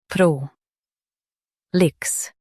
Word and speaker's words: prolix: pro lix prolix Stress pro and keep lix quick. pro lix prolix Stress pro and keep lix quick. pro lix prolix Stress pro and keep lix quick.